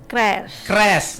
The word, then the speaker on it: Crazz: Apakah Bacanya Crush. Crash. Oh, tuh keliru kan, berarti salah kita ya. kan? Crash ya.